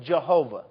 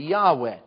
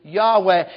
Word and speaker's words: Yahweh: The song pronounced it Jehovah. An old pronunciation. Now we know it's supposed to be Yahweh. Praise be to Jehovah. Praise be to Yahweh.